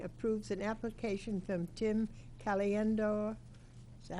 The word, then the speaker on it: Caliendo: Resolved, the Old Town City Council hereby approves an application from Tim Caliendo, is that how you say it? Caliandro, yep.